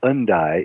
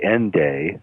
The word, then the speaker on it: Hendaye: And it's actually pronounced Hendaye in French, and if you were British, it would be Hendaye, like end day.